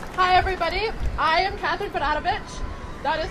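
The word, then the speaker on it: Berarovic: I am Katherine Padavich. That is spelled C A T H R Y N. And I'm Serbian, so my last name sounds like a sneeze, but it's spelled B E R A R O V I C.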